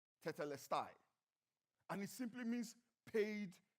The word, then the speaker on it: tetelestai: You know, that word, it is finished, comes from a Greek word that is pronounced tetelestai.